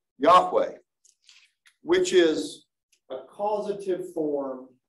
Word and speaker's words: Yahweh: weren't uh weren't written it probably was written and pronounced Yahweh which is a causative